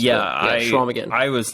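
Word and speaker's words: Chequamegon: Yeah, Right, it's got a funky spelling to it. There's like a Q in there and some letters that don't get pronounced. Yeah, Schwamigan.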